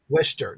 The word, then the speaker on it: Worcester: She says she's near I can't even pronounce that. Attleboro? Worcester.